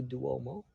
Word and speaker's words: Duomo: I love the roofs on a higher location where we see some of the towers of and I think it's the Duomo. Am I pronouncing that on the right way?